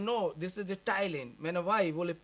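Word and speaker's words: ptyalin: n so i read pitalin he said no this is the thailand of why well p is silent but in hindi no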